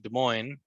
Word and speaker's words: Des Moines: in a suburb of Des Moines, Des Moines, the city of Des monks. Des Moines, Des Moines, Des Well, Moines. it's we pronounce it Des Moines, but Des Des Moines, Moines, Des Des Moines, Moines, Des of Moines.